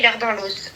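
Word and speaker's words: Ehlers-Danlos: Si tu veux l'écrire pour le pour chercher ce que c'est le syndrome l'air dans l'os. Alors l'air dans l'os ça s'écrit E L H E R S.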